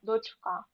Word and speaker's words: дочка: наголос на перший склад але дочка наголос на останній склад і так само гальмо